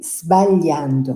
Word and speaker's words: sbagliando: we don't pronounce it putting an E before it. Like Spanish. We say sbagliando, not Spanish. sbagliando. Sbagliando. Just like we say spaghetti or spagnolo.